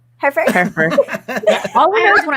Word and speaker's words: Hereford: Hertford. Isn't it Hertford? Did I mispronounce? Hertford? Hereford.